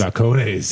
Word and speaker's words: Balcones: Balcones. Yes, got the pronunciation right tonight.